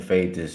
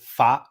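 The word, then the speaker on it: Pfaadt: is somewhat of a fade of Brandon. I guess they pronounce it, their home announcers pronounce it Fa. The double A, kind of a European sound there. Brandon Fa has not been good against any reliable offense so far.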